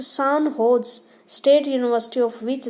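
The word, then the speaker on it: San Jose: Recently the सेंट जोस pronounced सान होज state university of which they were farmer student honoured them एंड installed their status in university campus.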